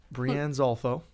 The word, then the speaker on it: Breanne Zolfo: But we got Breanne Zolfo. That's how you say it, yep.